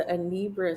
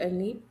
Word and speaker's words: Anambra: I helped with open heart surgeries over there, and it was the Anambra state where we went. Wow. Did you say which state? I think if you pronounce it Anambra, Is it Anambra?